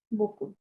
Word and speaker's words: beaucoup: don't know আচ্ছা ভাইয়া এই যে বকু এটা যে বলে এটা কি পিটা কি সাইলেন্ট থাকে কোন জায়গাতে জেম বকু বকু যেটা অ্যালট পি যেটা silent P silent P silent right okay বকু পি সাইলেন্ট ওকে আচ্ছা মাদাম নিসা আপনি